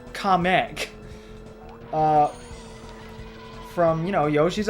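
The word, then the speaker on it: Kamek: going to be replaced by kamik from or I'm sorry the official pronunciation comic uh from you know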